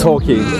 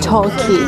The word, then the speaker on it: Torquay: ร์ คี บี ช How to pronounce Turkey beach? Turkey. Turkey. Yeah, Turkey. It's like Christmas though, Turkey.